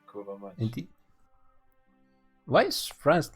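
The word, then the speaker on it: kurwa mać: I thought it's much, but today I saw a Hearthstone stream and the guy was screaming kurva mats, and then I thought, that's how you pronounce it, because I've never actually heard a Pole say it. No, So my first instinct was correct, kurva mats.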